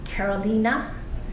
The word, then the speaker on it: Caroline: great great grandparents um their names are actually pronounced Carolina because in Norwegian the E is pronounced as an A and Christoper Christopher so